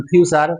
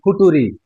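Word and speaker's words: future: যেমন যদি যেটা হবে উচ্চারণ ফিউচার, তাকে বলতাম ফুটুরি।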